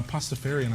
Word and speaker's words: Pastafarian: pasta uncore farian uh pastafarian I like that pastafarian perhaps see it's like Rastafarian but it's p i I have